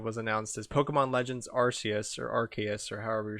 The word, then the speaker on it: Arceus: Arceus is The correct pronunciation. yeah. I will accept that I was very wrong when I originally pronounced Giratina and Dialga, but Arceus will always be correct.